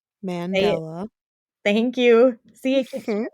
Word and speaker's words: Mandela: how you say it because I keep thinking mandala in my head but it's not that it's Mandela thank you see I